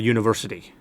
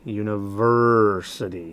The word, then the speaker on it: university: Listen closely. University. University. University. It's the third syllable. Third syllable is accented. A lot of Thai people will say university. They'll put the accent on that last syllable.